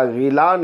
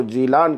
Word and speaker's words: جیلان: کا مقام آپ کا غیلان ہے۔ چونکہ عربی زبان میں لفظ گاف کا تلفظ نہیں ہوتا ہے، اس لیے جیم سے بدل کر اس کو جیلان کہا جاتا ہے۔ آپ کی ولادت 471